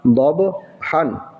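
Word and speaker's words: ضبحا: এরপরেরটা দদ বা জবর দব বাটাযে কলকলা হরফ সেম একই পড়া দদ বা জবর দব হা আলিফ দুই জবর হান দব হান পড় আমার সাথে দব হান কলকলা করে পড়তে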